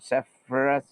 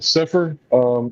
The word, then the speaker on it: Sepher: It's Robert Sephirus. Yeah, no, Sepher. It's spelled weird. SEPH. SEPHER, I think.